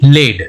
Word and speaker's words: lead: उसी तरह से नेक्स्ट वर्ड है LEAD, लेड, ओके। इसका प्रोनाउंसिएशन हमने क्या किया, लेड।